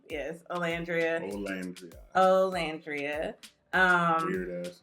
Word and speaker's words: Olandria: Olandria. Yes, Olandria.